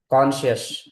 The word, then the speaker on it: conscience: ठीक है, उसी को हम इंग्लिश में बोलते हैं कॉन्शियस, कॉन्शियंस, कॉन्शियंस कॉन्शियंस, मतलब होता है सेंस ऑफ राइट और रॉन्ग।